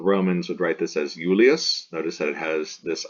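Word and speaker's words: Iulius: would write this as Ullaeus notice that it has this I here and this I here this is the consonant I so pronounced like a y-yeah this is Val I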